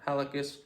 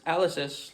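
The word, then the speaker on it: hallucis: Three different muscles being tibialis posterior flexor digtorum and flexor halocus longus. Some people say you don't even say the H. It's alysis like because British people flexly longus, you know.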